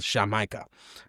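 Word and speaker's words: Xamaica: It was spelled Shamika.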